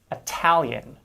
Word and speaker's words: Italian: with a tap sound because it's unstressed whereas italian with a true t sound because it is